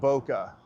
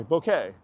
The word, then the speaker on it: bokeh: It's Bokeh. It's b o k b o h k e h. Bokeh. Let's Let's see if we can change it. It's not Boca.